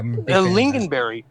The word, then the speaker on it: lingonberry: my talking about and the 27 fish yeah lingonberry a lingonberry is how you pronounce it lingonberry late oh yeah yeah there